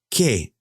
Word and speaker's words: qué: Don't forget, you do not pronounce the U. ¿Qué pasa?